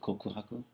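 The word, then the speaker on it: 告白: Kokohaku.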